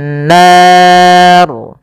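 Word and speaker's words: النار: Ashabun bunu lepas nar dan ro di sini kita hukumi dengan ro tafkhim ro yang tebal tidak boleh dibaca dengan ro tipis kenapa karena dia adanya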